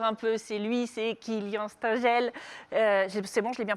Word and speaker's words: Kilien Stengel: Allez tout de suite, le local génial du jour un peu, c'est lui, c'est Kylian Stengel. C'est bon, je l'ai bien proposé? Oui, tout va bien. Je l'ai bien prononcé, pardon, mais je me trompe dans les mots.